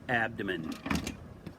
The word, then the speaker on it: abdomen: it starts with ab you say ab ab is easy you can say ab then you can say abdomen here's how it's spelled ab dom men abdomen abdomen abdomen gotta learn how to